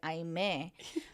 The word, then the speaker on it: Aimee: name's I met and my family pronounces it I may mine does too oh